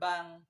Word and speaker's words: bank: Tapi dalam pengucapan bahasa Inggris di akhir menggunakan ke gitu. Ada keluaran ke. Sedangkan kalau dalam bahasa Indonesia mirip-mirip kita sama Bang, kayak kalau kita manggil Bang Sabda gitu.